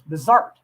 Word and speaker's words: Bizart: And the proper way to pronounce his name was Bizart, with the emphasis on the second syllable.